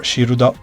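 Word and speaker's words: シールド: name is based on the Japan Japanese pronunciation of the word Shield or shirudo his special attack is the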